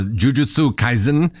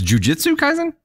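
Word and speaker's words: Jujutsu Kaisen: on this pronunciation uh Jujitsu kaisen how do you say that no is Jiu-Jitsu kaisen yeah okay then jiujitsu kaisen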